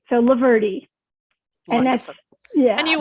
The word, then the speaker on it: Loverde: first name is my last name is loverty and the first word is lover l-o-v-e-r-d-e is my name so laverty and that's yeah and